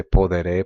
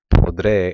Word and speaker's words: podré: you were to say poderé, poderé, poderé, poderé, what eventually happens is that E sound of poder drops out and you end up saying podré instead of poderé.